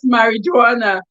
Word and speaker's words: marijuana: meal car it is pronounced us it was pronounced as marijuana this the j is silence kudos i still